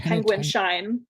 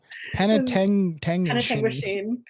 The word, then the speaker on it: Penetanguishene: I kept calling it Penguin Shine. Yeah. Penetanguishene.